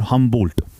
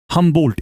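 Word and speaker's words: Humboldt: हमंबोल्ट एच यू एम बी ओ एल डी टी डी E silent.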